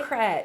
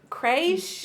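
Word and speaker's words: crèche: Well, we always called it a Crochet. crutch, but it's a creche.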